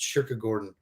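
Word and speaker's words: kyrkogården: Sweden and uh uh Cemetery in Sweden I guess is I think pronounced sugar Gordon so he wrote this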